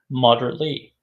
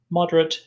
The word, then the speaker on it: moderate: Moderately is the adverb. Moderate is the adjective, and if you move the pronunciation, the stress on the syllable, moderate or moderate, it becomes a verb.